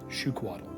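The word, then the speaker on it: Xiuhcoatl: them usually are and the spelling for it is actually uh x-i-u-h let's pronounce shu is an s-h-o-o shuquadle okay they are instruments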